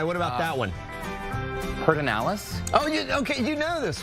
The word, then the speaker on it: Pedernales: Pedernales? Oh, okay, you know this one. Pedernales? Yeah. So Perd, they put the R in a completely wrong spot, and who knows why